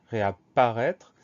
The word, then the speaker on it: réapparaître: Donc on fait attention à quoi? On fait attention à ces deux P, réapparaître. Et on fait attention à ce son E qui s'écrit A, I accent circonflexe.